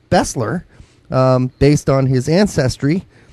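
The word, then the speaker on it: Besler: feel bad even though his name is correctly pronounced Bessler um based on his ancestry I will go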